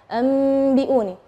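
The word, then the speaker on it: أَنْبِئُونِي: Nah, tapi ketika kita membacanya anbi'uni, terjadi khilaf antara, misalnya ada yang bilang bibirnya terlalu ronggang, biun, atau merapat. Itu yang mana sih yang benar? Nah, yang benar adalah kita merapatkan bibir, tapi jangan terlalu menekan, enggak.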